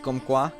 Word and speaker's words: comme quoi: The me is silent at the end of comme quoi? Is it just comme quoi then? See, this is what I mean. Half the fucking letters you don't pronounce. Why is it come? Why is it pronounced come?